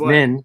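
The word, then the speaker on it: Minh: My middle name is Min, so Min. What? No. No. And it rhymes with Truman.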